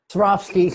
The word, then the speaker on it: Swarovski: And I also have, a snake bracelet, gosh, from one of those high-end crystal places that Swarovski? I don't know how to say it. Swarovski.